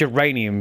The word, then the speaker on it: uranium: actually no I only have one geraniums is pronounced uranium as you dick and yeah she was killed